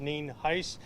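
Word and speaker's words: Nienhuis: the uh for the record uh Sheriff ninheis it's spelled n-i-e-n-h-u-i-s and it's pronounced Neen Heist and I have uh Sheriff Naco here with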